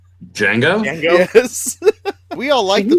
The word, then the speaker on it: Django: I'm just now thinking of freaking the Quentin Tarantino film with the D is silent. Django?